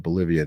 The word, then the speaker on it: Bolivia: Fun fact about Bolivia. It rhymes with trivia.